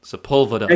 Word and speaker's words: Sepulveda: are always a cool sepulveda he's a you know anybody from Los Angeles knows how to pronounce my surname because one of the main straights they're Sepulveda Boulevard I figure might be